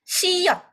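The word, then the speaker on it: 시옷: Jadi kalau ini S, kalau di depan bacanya S. Siet, kalau di depan bacanya S. Jadi ini C. Tapi kalau posisinya di bawah jadi T. Jadi ini bacanya siot.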